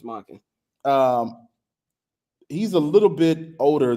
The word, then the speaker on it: Monken: Todd Monken, yeah, offensive how do I pronounce that? Todd Monken. It's Monken.